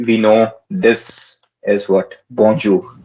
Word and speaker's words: bonjour: It's not jo. Bonjour. It's not bonjour. It's bonjour, and that is the most correct pronunciation than any English person who is making it.